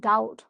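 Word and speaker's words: doubt: আনডাউটেডলি বা নো ডাউট। তোমাদেরকে একটা উচ্চারণ শিখাই। দেখো। এই যে আমরা বলি না ডাউট। ডাউট মানে কি? সন্দেহ। হ্যা এখানে কিন্তু বিটা আমরা উচ্চারণ করব না ঠিক যদি এটা স্পোকেন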